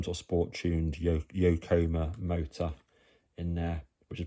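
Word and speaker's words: Yokomo: And it comes with some sort of um it's like a some sort of Yokcomo, that's how it's pronounced, motor in the back. So, some sort of sport tuned yo yokoma motor in there, which is probably far too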